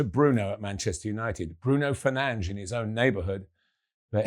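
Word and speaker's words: Fernandes: Bruno Fernanch in his own neighborhood. But he was here long before correct pronunciation became such an issue.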